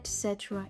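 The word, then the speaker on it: et cetera: Можливо, ви десь чули, як її вимовляють як через букву К. Але це неправильно. Це принцип зіпсованого телефону. Хтось десь почув неправильний звук і воно пішло далі у використанні. правильний варіант etc.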